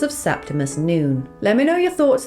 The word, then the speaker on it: Septimus Noone: When I first saw it, I read it as Septimus No One and was surprised when Jonathan pronounced it as Septimus Noon.